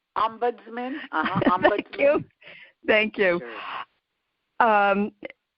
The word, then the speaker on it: ombudsman: the um how do you pronounce the word ospinant am i pronouncing that correctly ombudsman thank you thank you um it might vary